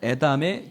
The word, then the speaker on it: 에담: 수꽃을 떠나 광야 에담에 진을 치고 어디에 진을 쳤다고요? 발음을 잘하셔야 됩니다. 예담은 제 아들이고요. 여긴 에담입니다. 에담.